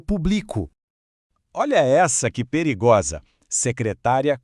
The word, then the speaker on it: secretária: Secretária com acento é a prof. são a pessoa.